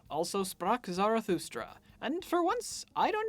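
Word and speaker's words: Also sprach Zarathustra: also sprock zarathustra and for once I don't need to apologize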